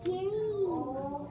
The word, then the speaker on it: games: It's games. I did it again. The silent E makes the A say its name.